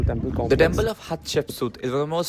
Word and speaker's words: Hatshepsut: So I pronounce it based on like what Het, Ship and Sut.